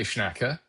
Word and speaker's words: Schnacke: Uh, so I say Schnacker. Um, but yeah, it really does like it does not matter. I I guess I truly don't know uh either, but I've always said Schnacker.